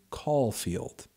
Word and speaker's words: Caulfield: have a nice day yes I would say Holden Caulfield like a phone call and then field I